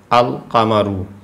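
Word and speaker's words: القمر: তারপরে আরও উদাহরণ আছে আল কামারু এই যে আল কামারু যে শব্দটা আছে এখানে কিন্তু লামের উচ্চারণ হয়েছে আল লামের উচ্চারণটা হয়েছে আল কামারু কী জন্যে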